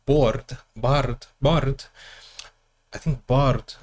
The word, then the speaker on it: Bjarte: Bard Bard I think Bard is the way say his name and vard IL visar